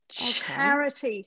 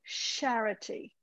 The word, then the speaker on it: charity: Charity, okay. Not charity. Charity. Okay. Like, charity. Yes, like chair. Charity.